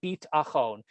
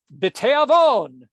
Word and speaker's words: Beat'achon: a cappella group called Beit Achon. And we introduced that in the beginning of our presentation here. And lo and behold, here we are again, revisiting Beit Achon, B-E-A-T, like the Beatles, A-C-H-O-N.